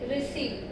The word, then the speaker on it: receive: And in the same way, receive, re and see. We have two syllables and we are going to stress syllable number two, because this word is a verb and we are considering it in that context.